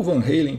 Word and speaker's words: Van Halen: um dos álbuns do Van Halen que eu mais gosto, ou Van Halen, para quem prefere a pronúncia americanizada.